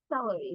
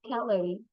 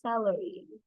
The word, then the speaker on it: celery: You say celery, not calorie. Teacher, is that calorie? No, it is celery.